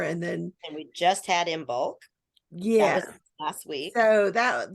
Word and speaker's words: Imbolc: around the corner and then we just had in bulk yeah last week so that that um so it isn't it spared it's spelled i-m-b-o-l-i-c right no I am b-o-l-g originally